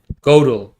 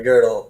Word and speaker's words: Gödel: Or Gödel, I don't know how to pronounce his name. Gödel, like Gödel's incompleteness.